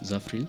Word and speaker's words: Zafril: My name is Zafril.